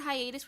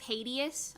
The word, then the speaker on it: hiatus: Hiatus I'm so excited when I was a kid I used to think the word Hiatus was pronounced as hius I don't know why